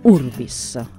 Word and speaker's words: urbis: dalla sillaba accentata ur, quindi l'accento cade su Urbis.